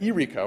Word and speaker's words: Irico: What also happened, and this comes through the testimony of Officer Spencer, was that Irico, and I'm told that's how he pronounced his name, Irico kind of became belligerent